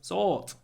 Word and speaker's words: sought: to uh they sort we sought to make a difference not ought sought we sought to make